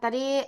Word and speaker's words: 他: Jadi ini harus bacanya ta. Ingat ya Kak Yuniar ya, T dibaca TH.